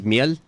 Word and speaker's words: miel: The Honey is miel.